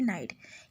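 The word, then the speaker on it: Knight: ओ नाइट जो है ये नाइट नहीं पढ़ेंगे ये के साइलेंट है नाइट यह ऑथर राइटर का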